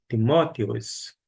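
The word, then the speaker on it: Τιμόθεος: mesmo ocorre com Timóteo aqui a pronúncia é timóteos todavia esse S essa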